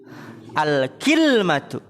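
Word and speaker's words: كِلْمَة: Wathaniyatu, yang kedua, bikasril kafi wasukunil lami, dengan mengkasrohkan kaf, kafnya kasroh, dan mensukunkan lam. Berarti gimana bacanya? Al-kilmatu ala wazni sidratin, di atas wazan sidroh ya, sidratin yaitu kilmatin.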